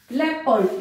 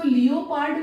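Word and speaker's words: leopard: ना यू है country, लेपर्ड इसको लियोपार्ड नहीं बोलेंगे क्या बोलेंगे लेपर्ड, ओ साइलेंट है, फेवर फेवर आर भी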